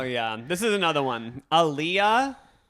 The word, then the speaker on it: Aaliyah: Aaliyah, that's how you say it, right? She died in like the early 2000s. Oh yeah. I think it's Aaliyah.